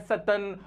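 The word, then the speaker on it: Tsetan: लेते हैं जिसका नाम सतन होता है। ये जो ना इसमें टी साइलेंट होता है, लद्दाख के जो लोग होते हैं ना, तिब्बत और लद्दाख के लोग, उनके नाम ऐसे ही होते हैं, सतन, नोरबू, ऐसे।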